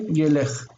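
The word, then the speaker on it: יֵלֵךְ: This is tsere and tsere, yelech.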